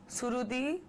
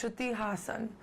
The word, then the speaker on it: Shruthi Hassan: So I get Shruthi, Surudi, Strudi, Hassan. No, it's Shruthi Hassan. And I would really love if you could say it that way.